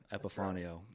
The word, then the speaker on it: Epifanio: Yeah, EPIFANIO, Epifanio. Right. And it's Epifanio if you need to have a little Italian to it.